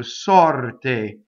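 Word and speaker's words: sorte: So sɔrte. But notice it's not te, it's te. Sɔrte, right? So pure vowel. Okay, so notice also that the R in this word rolls because it touches a T.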